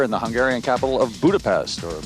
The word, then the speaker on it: Budapest: Hi, I'm Kurt Loder, and we're here in the Hungarian capital of Budapest, or Budapest as it's pronounced, straddling the Danube River about 100 miles east of Vienna.